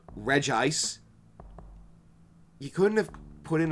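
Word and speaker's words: Regice: Um, Reggie, listen, I know it's pronounced re ice. You couldn't have put in a second I just call it Reggie Ice.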